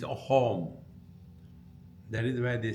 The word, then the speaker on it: Assam: In Assam, the sa is pronounced as ha. It is not Assam, we say, it's a home.